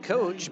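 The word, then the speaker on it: Koch: Matt Coach, by the way, his name is spelled K-O-C-H, pronounced like a football coach or a baseball coach.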